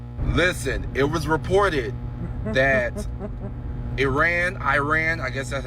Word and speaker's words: Iran: Listen, it was reported that Iran, Iran, I guess that's how that's how you pronounce it. Iran does Iran. That's how you actually pronounce it cuz you said the I like English.